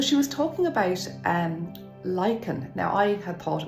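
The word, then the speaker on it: lichen: was talking about um lyen now I had thought it was pronounced like many people I think Lin but it's actually lyen and lyen is not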